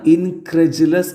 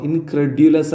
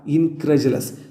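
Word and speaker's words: incredulous: ഇൻക്രജസ് എന്ന് പറഞ്ഞാൽനോട് ബിലീവി അത് വായിക്കുക ഇൻക്രജലസ് എന്നാണ് ഇൻക്രഡുലസ് അല്ല ഇൻക്രജലസ് മേയർ ആകെ പിന്നെ ഇത് വിശ്വസിക്കുന്നില്ല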